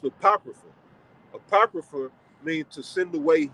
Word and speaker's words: apocrypha: That's an A supposed to be there, right? So that's pronounced apocrypha.